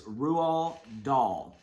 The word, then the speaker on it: Roald Dahl: I had to look up how to pronounce his name, but it is Roald Dahl.